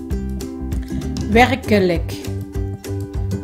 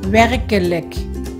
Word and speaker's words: werkelijk: Đây là một từ nhấn trọng âm ở âm tiết đầu tiên, cho nên chữ e đầu tiên màu đỏ, nó là chữ e ngắn. Chữ e thứ hai ở âm tiết thứ hai màu xanh, nó là stomme e, cho nên mình phát âm là k.